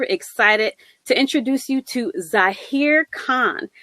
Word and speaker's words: Zhahir: I tend to say just Zahir as in the country, but even then it kind of causes problems and stuff.